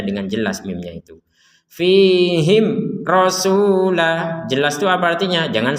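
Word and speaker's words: رسولا: Rasulan kita bacanya rasula. Kenapa kita baca rasula menjadi dua harokat dan bukan dibaca fathatain? Karena kita berhenti.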